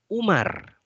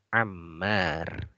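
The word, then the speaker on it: عمار: tulisan Amr dan Umar kalau Umar dia tidak pakai Alif sekali Jadi kalau ada main meme rok saja tanpa alifka kita bacanya Omar Romero tapi kalau ada alifnya dibacanya Amar ya install perhatikan ini Amar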